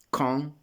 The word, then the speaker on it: quand: Quindi quand est-ce que, ecco, vedete questa legatura di quand, la D ci diventa pronunciata come una T davanti al vocale, per legare, però vabbè, una piccola puntualizzazione fonetica.